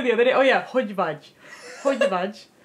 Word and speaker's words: hogy vagy: You have, if you're Hungarian, you have no idea how hard it is to pronounce the GY sound, like hogy vagy.